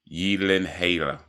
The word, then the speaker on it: Gyllenhaal: According to Google Gemini, it is pronounced Gyllenhaal, and it's a Swedish origin. Gyllenhaal.